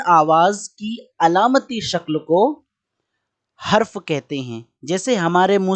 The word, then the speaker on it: حرف: کے اوپر زبر ہے۔ بعض طلبہ اور کچھ لوگ اس کا تلفظ حرف کہتے ہیں، لیکن اس کا تلفظ صحیح ہے حرف۔ حرف کسے کہتے ہیں